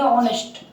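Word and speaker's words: honest: देखो ये एच से हो नहीं है, ये एच यहाँ साइलेंट रहता है, इसको बोलेंगे ऑनेस्ट।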